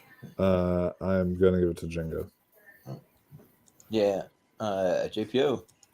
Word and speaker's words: Django: All right, fair enough, but Django Unchained will take the crown for this Django Unchained. There you go. All right, and the D is silent.